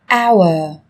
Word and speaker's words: hour: Trong tiếng Anh cũng có một số từ mà cách viết chúng ta thấy xuất hiện chữ cái h, nhưng khi phát âm thì chúng ta lại không cần phải phát âm âm này, người ta còn gọi là âm h câm.